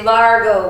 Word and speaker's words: largo: the count of three say Largo with me 1 2 3 Largo yeah Largo kinda sounds like the word large doesn't it yeah think about something